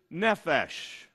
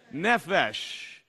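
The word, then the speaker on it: נפש: to understand this topic the hebrew word is nefesh say it with me how do you say soul in hebrew nephesh very good now the reason that's important for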